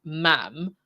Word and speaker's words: ma'am: The conventional formal address your majesty and subsequently ma'am pronounced to rhyme with jam.